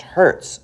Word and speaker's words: hertz: to something we often write as Hz, which is pronounced hertz.